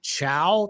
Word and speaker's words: Chow: It's Chow. That's how you pronounce it? That's how it's pronounced.